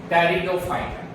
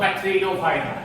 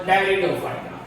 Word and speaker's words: Pteridophyta: Now the third one is Pteridophyta. Pteri means three. See the pronunciation. It is not called Patrinophyta. It is called Pteridophyta. P silent.